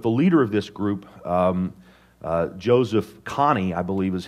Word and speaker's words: Joseph Kony: But the leader of this group, Joseph Kony, I believe is how you say his name,